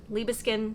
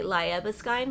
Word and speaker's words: Libiskin: how to say it, it's Libiskin without the D. People say Liebeskind, like they really try to sound it out, but no, it's just Libiskin. Libiskin, it's easy.